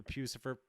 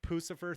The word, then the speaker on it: Puscifer: congrats on the on the pucifer pucifer thing depending on how you want to pronounce it i look forward to